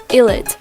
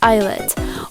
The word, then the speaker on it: ILLIT: For example, they mispronounce their group name by saying ILLIT, while the group name is pronounced ILLIT.